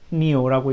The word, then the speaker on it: PyNIO: 파이니오라고 있는데, 예, 파이니오라고 되어 있는 걸 읽을 거고요. 그림을 그릴 때 pyngl이라고 써 있습니다. 핑글이라고 써 있는데, 예, 우리가 이걸 핑글이라고 읽고 요거를 파이니오라고 읽을 건데, 예, 요 모듈들을 주로 쓸 겁니다.